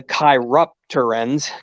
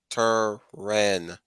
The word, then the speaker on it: chiropteran: They just basically say that they're corruptorants and they got the chiruptorans. Gosh, it's hard to say those names. Chiropteran.